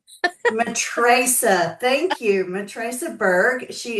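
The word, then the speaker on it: Matraca: Oh, Matricesa. Matricesa.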